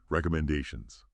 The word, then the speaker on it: recommendations: Pay attention to the rhythm. The stress. It falls on the fourth syllable. Men. Recommendations.